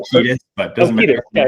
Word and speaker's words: Cetus: Deneb Kaitos, which is in the constellation, I pronounce it Cetus, but you can I say Cetus, but doesn't matter.